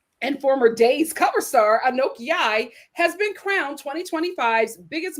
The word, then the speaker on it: Anok: Any am I pronouncing her name right? Ano? Ano? Anoke.